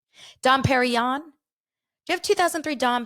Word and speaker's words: Dom Perignon: you have 2003 and she doesn't even say it right right she doesn't say Don Perignon she says Don perion Dom Perignon do you have 2003